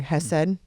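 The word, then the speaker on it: chesed: But you talked about, I'm going to say it wrong, Hesed. No, Hesed, without the phlegm.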